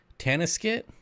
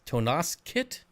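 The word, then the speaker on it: Tonasket: tell you that much it's pronounced tana skit tana skit well why do they put an o in there freaking english that's stupid bob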